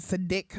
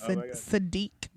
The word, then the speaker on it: Sadiq: up I get sadik all the time it's a dick it's a dick and I'm like well cues are pronounced with like with a UE I think so it's not a lot of people probably there's no phonics growing up CK um so it's Sadiq I had a finest